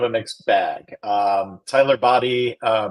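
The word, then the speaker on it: Badie: mixed bag um Tyler body uh body there's some debate about how his name is pronounced so it is B it is B confirmed it this week yep source is him I I like what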